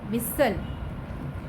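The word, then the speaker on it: whistle: मैं आपको बता दूं कि जो टी की साउंड है ये टी जो है इसमें साइलेंट है, टी की साउंड नहीं आएगी. WHIVSTLE सल विसल.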